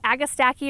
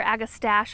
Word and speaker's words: Agastache: garden so we've got a agastaki or agastache i've heard it pronounced both ways also known as hyssop